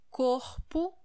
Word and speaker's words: corpo: Well, when we say it in singular, the first letter O, it is pronounced as O, corpo, co, o, o.